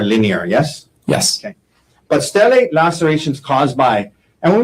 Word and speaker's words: stellate: head, and you refer to it as a stellate laceration, is that right? Yes. And am I pronouncing that right, stellate?